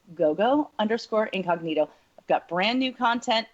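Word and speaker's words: Gogo Incognito: If you are, then please go to Gogo_Incognito. It rhymes. Gogo_Incognito.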